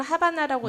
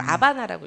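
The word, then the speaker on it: Habana: 쿠바의 도시 수도가 하바나 h로 시작되는데 스페인어로는 하바나라고 읽지 않고 아바나라고 읽어요 아바나에 도착을 했을 때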